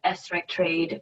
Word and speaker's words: SRECTrade: coming up of course thanks sarah um it's pronounced esrek trade which i know it's not very intuitive um